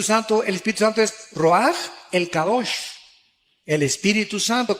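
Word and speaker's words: רוח: con r de Raúl a c h se pronuncia roag por ejemplo cuando hablamos del Espíritu Santo El Espíritu Santo es roag el kadosh el espíritu santo Cabos es Santo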